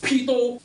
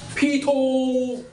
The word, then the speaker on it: pedo: Luna scold you, pito, how to pronounce this word, okay? Wait, this word's how to pronounce. Pedo, okay, P-E-D-O, P-H-I-L-E, okay, why I'm not angry,